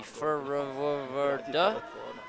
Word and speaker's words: FRWRD: They pronounce it in Czech, would be Forward. So forward is without the vowels for anybody who's keeping track at home.